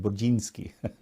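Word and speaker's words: Burzynski: Brudzinski from Texas. Actually, in Polish, you would say his name Budzinski, but that's how I always thought it.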